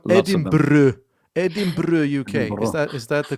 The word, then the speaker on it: Edinburgh: Edinburgh. Is that the correct pronunciation?